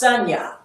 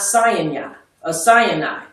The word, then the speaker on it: Sinai: It is pronounced Sanya and not Sinai, equivalent to the mountain